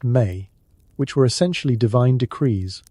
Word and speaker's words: me: According to mythology, Enki possessed something called the Mi, pronounced May, which were essentially divine decrees or fundamental concepts that governed reality.